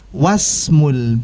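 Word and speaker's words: واسم: untuk Isim yang berikutnya karena didahului dengan Wak dan dibacanya menyambung mewaspadai maka kita katakan wa smule binti I pada is punya tidak kita baca sehingga kita lihat di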